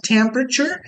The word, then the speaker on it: temperature: o significado Ah então Nesse contexto aqui set temperature é uma temperatura que é predeterminada que é programada tá aqui a pronúncia temperature temp a esse e então observem